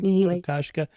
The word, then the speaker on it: Kokoschka: the artist Oscar Kokoschka, is that how you pronounce his name? Kokoschka.